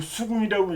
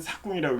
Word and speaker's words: 삭궁: 삭궁은 이 수궁이라고 읽지 않아요. 이때는 삭궁이라고 읽어요.